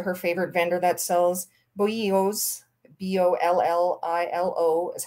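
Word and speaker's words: bolillo: favorite vendor that sells boyos b-o-l-l-i-l-o is how it's spelled uh but it's pronounced their double l's are pronounced like y's so we bought some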